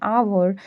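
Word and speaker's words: hour: आवर में H silent है और ओ से साउंड स्टार्ट हो रही है। इसलिए एन का यूज किया गया है।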